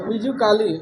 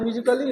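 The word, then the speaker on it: musically: देखो मीजी क एली, क के बाद ए भी है ना, सी के बाद तो काली हो जाएगा, मीजू काली, लेकिन ऐसा नहीं, म्यूजिकली है तो ये साइलेंट हुआ लेकिन ली बना दिया।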